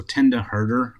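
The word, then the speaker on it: Mtenda Herder: All right, and next up we have I believe that in M is silent, so Tenda Herder, I'm going to say. I'm assuming that that's how it's pronounced.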